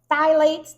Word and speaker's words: phthalate: Anything that has parfum, fragrance, parabens, phthalates. Phthalates is spelled with a PH at the beginning of it, but it's pronounced phthalate.